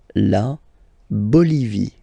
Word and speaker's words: Bolivie: Okay, final not pronounced. La Bolivie. La Bolivie.